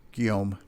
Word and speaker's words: Guillaume: Right, and just so you know, Curtis, it would be pronounced Guillaume. Guillaume?